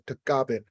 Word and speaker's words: Tagaban: My last name, Tagaban. In the Philippines, it's pronounced as Tagaban.